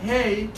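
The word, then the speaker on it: ה: particles small letter hey you're pronouncing the letter hey like eh it's just a breath of hit err that's the way you spell it's a letter with no voice you barely it's a whisper you can just hear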